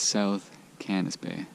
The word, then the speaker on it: South Cannisbay: Alright, so we just got to the water now, and I mispronounced the lake we're at. It's South Cannisbay.